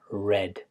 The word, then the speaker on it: read: as the present, simple of read, but the pronunciation is read.